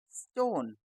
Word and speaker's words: stone: दोस्तों आपको याद होगा कि आखिरी का ई साइलेंट होता है, तो हम इसको क्या पढ़ेंगे? स्टोन, STREET, street, STORM, स्टोर्म, STORE, स्टोर, STOMACH।